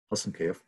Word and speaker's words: Hasankeyf: So I think in English or in Turkish, it's spelled Hasankeyf. Hasankeyf.